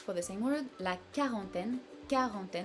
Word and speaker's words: quarantaine: the same word, la quarantaine, so you hear that we do not hear the U part of this word, we only say quarantaine, like a K or just a regular K sound.